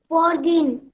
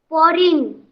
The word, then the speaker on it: foreign: Forgin. फॉरगेन। अभी तुमने बोला जी साइलेंट है, अगर जी साइलेंट है तो कैसे बोलेंगे इसको? Foreign.